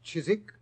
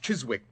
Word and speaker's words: Chiswick: Chiswick? It was originally pronounced Chiswick, Watson, and it's still so spelled.